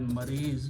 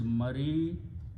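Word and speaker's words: مريض: We call it maris, but full word is maridun.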